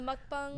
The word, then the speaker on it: mukbang: the mukbangs. The mukbangs. Yeah. That's the Oh, weirdest- mukbang. That's how you pronounce it.